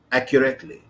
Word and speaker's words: accurately: accurately. خلي بالك الاستريس هنا على المقطع الايه؟ ها؟ الاول. برافو.